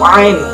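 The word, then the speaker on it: ع: 16 yaitu huruf ain, pelafalannya a.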